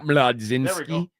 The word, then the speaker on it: Mlodzinski: Carmen Mlodzinski. That's pretty good. Yeah. Mlodzinski. Yep. Mlod. I guess Mlodzinski. Yeah. Mlodzinski. You got to say it like that.